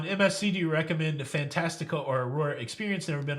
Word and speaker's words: Fantastica: Can you pronounce that, please? Fantastica?